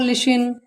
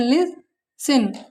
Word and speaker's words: listen: For example तुमने पढ़ा होगा लिशन, तो ये LISTEN, तो यहाँ पे टी हमारा साइलेंट, ऐसे पढ़ते हैं लिसन।